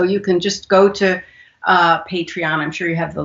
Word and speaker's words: Patreon: talk about the hottie is it you said patron or how do you say that it's patreon patron that's a website where